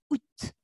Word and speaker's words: août: Attention à la prononciation de ce mois, hein, ça se prononce août.